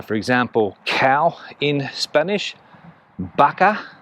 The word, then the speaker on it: vaca: know here in spain the v and the b uh sometimes pronounced exactly the same so for example cow in spanish baka v a c a